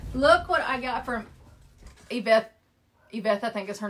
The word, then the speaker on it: Yvette: I think she said that's how you pronounce her name is Yvette.